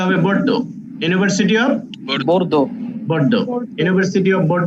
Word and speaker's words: Bordeaux: উচ্চারণটা হবে Bordeaux.